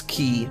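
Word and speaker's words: χ: And this, Kingdom Hearts Key back cover, the X is a Greek letter, not an X. It's pronounced key.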